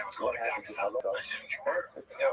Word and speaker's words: Dagestan: I didn't say I was going to Dagestan. I assumed you were. Yeah, it's pronounced Dagestan.